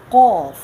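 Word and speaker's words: ق: Here is you can say a density in your sound, qaf.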